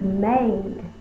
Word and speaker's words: made: Now, if we leave it like this, it looks like mad, because one vowel followed by one or more consonants, closed syllable, the vowel should be short, ah. But I said the word was made. How are we going to make this say the long A sound? We use a silent E.